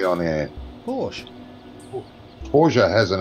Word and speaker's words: Porsche: Porsche is pronounced Porsche. Well, It's not pronounced yeah. Porsche. But it's got an E on the end, not an A in it.